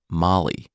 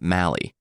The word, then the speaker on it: Mali: mythpodcast tocom also I received some pronunciation help week the name of J's country is pronounced Molly not Mali unfortunately I received the